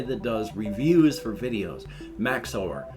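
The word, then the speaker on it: Max0r: does reviews for videos Max over I guess that's how it's pronounced m-a-x-0 R now I'm older and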